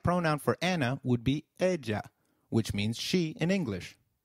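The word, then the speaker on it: ella: of area in Spanish Double L takes up the sound of Y in some areas and a soft J in others so you'll hear both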